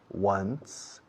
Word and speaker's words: once: I go to Morocco about once, una vez, once, como el número 1, con un sonido de S al final, once.